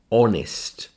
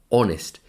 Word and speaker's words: honest: So we have a few words in English which have a silent h at the beginning. And this is one. honest. So, because it's a silent H, it's a vowel sound. O, honest.